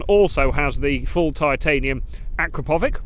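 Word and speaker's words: Akrapovič: has the full titanium Akrapovic, or depending on your pronunciation, Akrapovic or Kropovic exhaust system on, which looks really funky.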